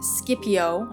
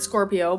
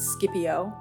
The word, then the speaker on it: Scipio: Scipio. I thought that said Scorpio, but Scipio.